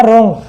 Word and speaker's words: wrong: और ऐसे हो गया रॉन्ग, जानते हो WRONG, इसका मतलब होता है गलत, रॉन्ग। अब यहाँ पे आर के पहले W आ रहा है तो साइलेंट हो जाता है।